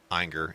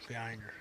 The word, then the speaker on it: Ayinger: So we are pitting fifth season against Ayinger.